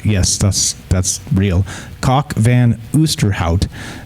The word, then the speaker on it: Kok van Oosterhout: However, according to Professor Kok van Oosterhout, yes, that's real. Kok van Oosterhout is actually how you say it, a professor of evolutionary genetics at the University of East Anglia in the United Kingdom.